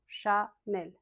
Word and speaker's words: Chanel: Chat comme un chat. Nel, c'est pas Chanel. Non, Chanel c'est plat en français. Il y a pas d'accent. Chanel.